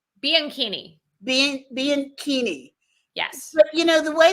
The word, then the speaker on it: Bianchini: how do you pronounce your last name? It is Bianchini.